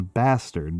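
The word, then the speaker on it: bâtarde: This is batard which is a little bit of a French pronunciation. It's also known as bastard because that's the English pronunciation of it.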